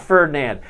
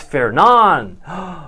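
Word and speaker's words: Fernand: Of course, it's not Ferdinand. It's Fernan.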